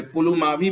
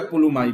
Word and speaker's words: पुलुमावी: Spelling में थोड़ा ही change है, पुलुमावी बोलो या पुलुमाई बोलो।